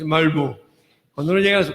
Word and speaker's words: Malmö: Y cuando uno llega a su casa en Malmö, yo no lo sé pronunciar bien porque se dice Malmö, cuando uno llega a